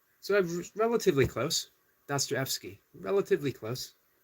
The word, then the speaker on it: Dostoevsky: Dostoevsky. So I'm relatively close. Dostoevsky. Relatively close. I've gotten the DOS and the Evsky. Correct.